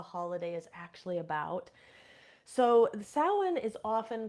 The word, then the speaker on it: Samhain: are newer to the craft it it is pronounced sin or saen sometimes but not Sam Hayne um sin translates roughly to Summer's end or